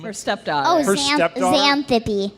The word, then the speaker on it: Xanthippe: Xanthippe. Xanthippe. But it's spelled with an X.